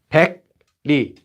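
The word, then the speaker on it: 백리: Tell me how I should pronounce this one. This, pek, li. So here we have li again, but this time we have pek for 100. 100 li. You guys are fast. Nice, nice. Pengni, pengni.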